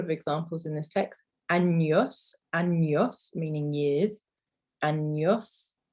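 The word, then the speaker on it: años: examples in this text annyos meaning years and yes so it's almost like it's about a-n-y-o-s anos and then also we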